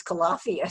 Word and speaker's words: Calafia: Okay, so now we're on to spring 2017, which was our first time using the new masthead, which I pronounce Calafia, so I have a totally different pronunciation, the name that was selected.